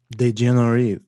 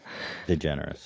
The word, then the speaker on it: DeGeneres: me on this one the generous is french okay yeah i should have guessed it can you pronounce can you pronounce it in french de generi did you read the